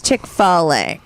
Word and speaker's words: Chick-fil-A: No, I think it's Chick-fil-A. Yeah. Oh, it is? Chick-fil-A. Yeah. Okay. Chick-F-I-L-A.